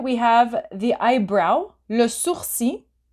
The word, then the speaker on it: sourcil: have the eyebrow, le sourcil. So the last L, you do not pronounce it. Eyebrow, le sourcil.